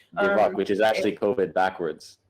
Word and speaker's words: dybbuk: It's Dybbuk, I think is how it's pronounced. Dybbuk, which is actually COVID backwards.